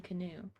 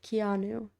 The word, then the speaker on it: Keanu: We could just keep saying canoe. No, it's wrong. It's mean. It's It's not kind to mispronounce someone's name after looking it up. Keanu.